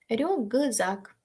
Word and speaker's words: рюкзак: ніхті кихті легко вогкодьохт наступне рюкзак з впливає на к так що к стає Ґ рюґзак вокзал з впливає на